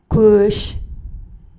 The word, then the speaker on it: көш: Кош, көш. Кош звучит твердо, так как в нем твердый гласный звук О. Көш – мягкое слово, в нем присутствует мягкий звук Слова в казахском языке могут быть или твердыми, или мягкими.